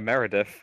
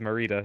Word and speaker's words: Merida: I've been calling her Meredith. Meredith, Shit. it might be No, no, Meredith. I think it is Merida. No, the way it's I Merida. realize now it's spelled. It is Merida.